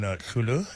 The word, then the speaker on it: Hloolo: A little bit more then on Hloolo. It's spelled HLOOLO.